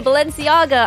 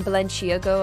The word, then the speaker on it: Balenciaga: of Balenciaga pretty cool I like saying that word because I said it wrong for so long that I now I'm like yeah Balenciaga I can actually say yeah I was I was like saying Belen she ago or something such a PDF she can't